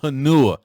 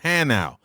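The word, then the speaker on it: Hanau: speed listen to me it is not hanua it is hannow and now germany h-a-n-a-u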